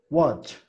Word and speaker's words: watch: Watch. Watch. Watch, ¿vale? Y esto significa ver. Watch. Watch. Así que empiezo contigo, Alison. Pronúnciame watch. Watch. No tan marcada la A. Que no sea wa, que sea wa.